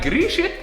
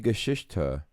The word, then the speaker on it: Geschichte: Die Grieche von. Where's the R? Grieche. It's Die Geschichte.